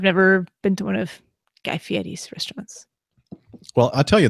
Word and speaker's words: Fieri: Wow, Guy Fieri is Fieri. Fieri. What is that, like an Italian pronunciation? Yes. Because I see an R in there, but I'm not hearing you say the R.